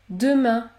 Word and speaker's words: demain: vent une autre consonne dans ce cas vous allez prononcer la voyelle nasale un comme dans les mots demain maintenant maintenant ou encore